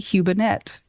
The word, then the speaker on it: Hubenette: Hubenette.